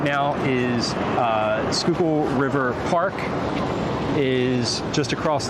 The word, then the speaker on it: Schuylkill: Uh this is one of them obviously, but this is this is where we are now is the Skookul River.